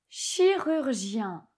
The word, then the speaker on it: chirurgien: Un chirurgien.